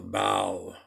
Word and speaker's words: Baal: b a a l Bal or Bale I've also heard it pronounced but I think Bal